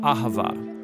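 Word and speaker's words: אהבה: languages as it is in ancient Hebrew it's pronounced Ahava it both basically refers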